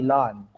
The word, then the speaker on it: ln: So in our term sa mathematics, as mathematics students, we read this as ln. Diba? Plant versus Zombie, lon. Diba? Lawn tennis, yun. So, lon. Yung pronunciation lang.